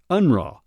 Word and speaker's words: UNRRA: In 1944, Reimer was recruited by the United Nations Relief and Rehabilitation Administration, or UNRRA, commonly pronounced UNRWA.